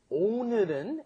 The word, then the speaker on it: 오늘은: It's not 오늘은. You cannot do all. It has to be 오. 오늘은, and then 늘 is a little difficult to pronounce too because there's no in English.